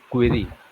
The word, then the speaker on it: Kuiry: Your surname, how do you pronounce it? Ma'am, it's Kuiry.